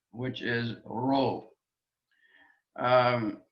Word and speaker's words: rho: which is ro um it's not uh like a spanish but neither is it an english american r it's um an aspirated r uh hero we call it in greek a hard breathing it's this is not p it looks like an english p but it's an r sound rho rho written in english r h o row now next letter is